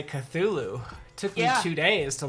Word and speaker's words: Cthulhu: is totally I just learned how to say Cthulhu took a few days to learn how to say that word you did pronounce it like four different times yesterday oh